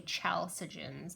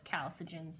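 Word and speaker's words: chalcogens: electrons in their outer orbit they bond with kal surgeons it's a funny word it kind of looks like you should say Chelsea jeans but no it's kal surgeons that each is silent okay and then we also react with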